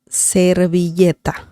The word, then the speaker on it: servilleta: La servilleta. La servilleta. Remember, the V sound in Spanish is very similar to B.